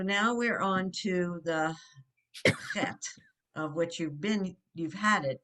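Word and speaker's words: חית: not always easy, but the CH is the sound, or the H with the dot, it's the ch. It's a guttural sound. So it's chet. And we're going over this again, as he says, a letter revisited, because chet is in a lot of words. And so it's that ch, that guttural ch sound.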